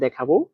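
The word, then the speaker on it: 打: প্রথম শব্দটা হচ্ছে দেখাই, তাহলে দা, দেখেন দা বলার সময় নিচের দিকে, দা দা, এটা বলার সময় নিচের দিকে টান দিতে হবে, দা।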